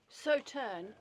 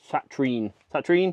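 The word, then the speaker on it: Sauternes: richly rewarding partnership between Arran single malt and the glorious Saturn. Sauterne.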